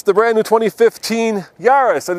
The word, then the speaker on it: Yaris: a startled squirrel yeah so what rhymes with uh Paris it's built in France but is owned by a Japanese car company and of course the answer is this yarus so let's uh see